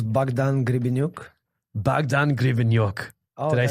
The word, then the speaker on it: Grebeniuk: real name is Bogdan gonna be nuke Bogdan grievin York they say it right very right yeah that